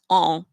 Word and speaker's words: un: For example, on, the UN, on. We say the U, but we don't really say the N.